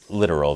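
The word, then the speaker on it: littoral: literal combat ship production operation and support the literal that's how it's pronounced these ships have been a government Nightmare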